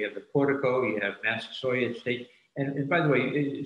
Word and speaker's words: Massasoit: do it we say massa saw it because that's how uh bradford wrote it he wrote it with a y which would indicate that that was quite how he pronounced it as well so in